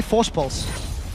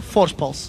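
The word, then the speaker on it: Voorspoels: For anyone that wants to know how to pronounce his surname, just say Force Pulse. Say it like you would say Kassadin with a bit of a lisp.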